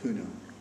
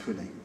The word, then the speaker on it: Pune: this was in the city of puna pronounced pune these days that's the marathi pronunciation oh i can only